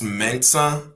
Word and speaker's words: M3NSA: So on TikTok it's Mensa, but it's spelled M3NSA with like an apostrophe at the top.